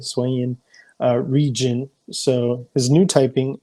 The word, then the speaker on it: Hisuian: That's how you say it, Hisuian region.